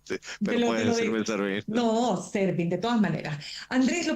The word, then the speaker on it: Serbin: Es Servín. Te lo pronuncio Excelente. como Te lo, originariamente, te pero lo, te puedes lo decirme digo. Servín. No, Servín, de todas maneras.